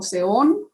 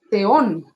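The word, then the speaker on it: θεόν: español como tal pero es una t con h al mismo tiempo Z Z explosiva cárcel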